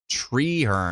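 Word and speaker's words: Treherne: doesn't help me at all can you phonetically spell it that'd be great say it like Apple mirapolis orapolis oh mirapolis I see tree her and that's what it is not Trey her just treehern we need an extra e in there Rick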